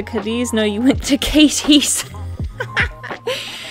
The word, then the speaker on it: Cadiz: Oh, if she could only hear the way other cities are pronounced. Going to Versailles? No, it's Versailles. Been to Cadiz? No, you went to Katie's. Katie's!